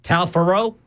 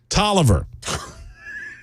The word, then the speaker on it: Taliaferro: You know how that county is pronounced, Ken? Talfaro? Tolliver. I'm like, That's not even close. y'all, you rednecks aren't even trying. There's an O at the, well, we don't pronounce that. Tolliver. Like, there's an F. It's not even a V. It's Tolliver. Okay.